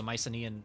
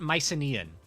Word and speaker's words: Mycenaean: Also, I probably shouldn't call it Mycenaean. It's probably Mycenaean, because there's no soft C sounds in Greek. So instead of it being Cerberus, it's Kerberos. Instead of it being Macedonia, it's Macedonia. C's and K's in Greek are the same fucking thing.